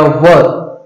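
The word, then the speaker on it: were: देखिए इसका rule, subject plus was या वर, वॉज या वर। देखिए, इनका प्रोनाउंसिएशन ठीक से करना है, बाज और वेयर नहीं, बाज और वेयर नहीं।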